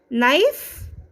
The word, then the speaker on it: knife: Next one is silent K, knife.